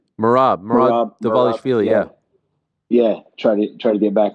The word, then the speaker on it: Merab Dvalishvili: How do you pronounce his name? Merab Dvalishvili.